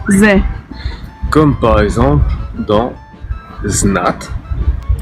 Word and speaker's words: З: Ensuite on va voir le z, qui se prononce З.